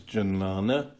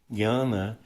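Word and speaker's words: jnana: like to spell it Master scoffed it is pronounce janana and how else are you going to pronounce it if you find it spelled that way this is just an example of Scholars pedantry Gana is the correct pronunciation the gy and English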